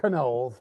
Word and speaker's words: Knowles: So, it's actually pronounced Knowles, but that's okay.